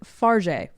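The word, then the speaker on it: Fargeat: Yeah, written and directed by Coralie Farja. Farja. Oh my gosh. Good job. I coached Cam on pronouncing this name for 30 minutes before this, and now I'm second guessing everything.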